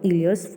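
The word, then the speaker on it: Euler: देखो इन्होंने यहाँ पे मेंशन भी किया है, जो उसका प्रोनाउंसिएशन होगा वो क्या होगा, इलियर्स फॉर्मूला होता है।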